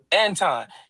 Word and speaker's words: Anton: Anton.